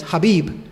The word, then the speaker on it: Khabib: say his name and the correct version was habib and then i don't know because it was